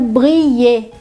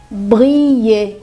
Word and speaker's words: briller: Então vocês veem que esse daqui não segue a regrinha da vogal mais ILL. Eu só tenho ILL, mas as três se pronunciam como se fosse as de cima.